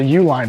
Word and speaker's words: Uline: I think it's a Uline box yep Uline box which I didn't know they're ooh shaky uh but they're a privately owned company by the UL line it's pronounced like UL family but uh I didn't